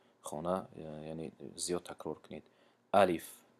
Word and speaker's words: الف: الف، الیف نمیگیم چون که کشیده نمیشود، لیش کشیده نمیشود.